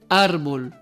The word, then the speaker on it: árbol: Árbol. La sílaba tónica es ar y lleva tilde porque esta palabra termina en L.